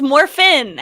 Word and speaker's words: Morphin: say it like that because it's Morphin there's no G Morphin Morphin what's is